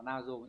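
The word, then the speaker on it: 謎: đi cố định với từ nazo từ này đọc là nazo là bí ẩn này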